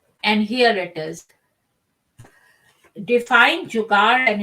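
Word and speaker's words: जुगाड़: At some point in their lives, every Indian has experienced jugaad. Pronounced jugaad, it is a Hindi word about innovation and creativity in all areas of life.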